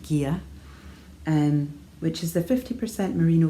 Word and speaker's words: Gigha: on their Gia base, that's Gigha, pronounced Gia, which is the 50% merino, 50% silk, 400 metres to 100 grams, and this colourway is Sea Glass.